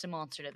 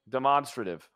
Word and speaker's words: demonstrative: the court I don't need it's called It's pronounced demonstrative evidence oh that is true demonstrative I'm just trying to Simply prove to the